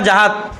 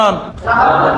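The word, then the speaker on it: جهاد: না তাইলে কি উচ্চারণ জাহাদ আমরা আগে কি পড়ছিলাম আমরা জিহাদ পড়ছিলাম কি পড়ছিলাম জিহাদ তাহলে আপনারা জিহাদ জেহেদ মেহেদ যা বলেন এগুলো সব ভুল কুশুদ্ধ কি জাহাদ জাহাদ জিমের উপর কি জব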